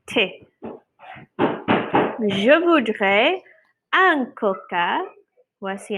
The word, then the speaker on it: thé: Et on ne prononce pas le TH comme th, on dit thé.